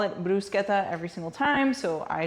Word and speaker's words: bruschetta: we pronounce it as Bretta but that's not the right way to say it in Italian it's actually pronounced brusketa but I'm going to forget to call it brusketa every single time so